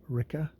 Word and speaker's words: Ricka: Really pissing off Ricka. Rhymes with pricker.